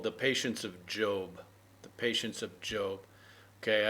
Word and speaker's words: Job: a kind of a segment and this is pronounced job but it looks like it should be job right um but it's it's job okay so you just have to accept it